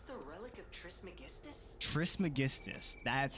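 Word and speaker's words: Trismegistus: swamp is this the relic of Tris magistus Tris magistus that's how you pronounce it that was close oh my God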